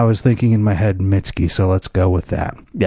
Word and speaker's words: Mitski: when I look at this, I say Mitski. That's what right. Could also be Mitski, Yeah, it could be. but it's Mitski.